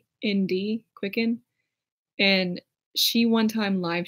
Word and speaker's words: QCKND: Like, one of my favorite YouTubers, her name is Quicken. It's spelled like QCKND, Quicken.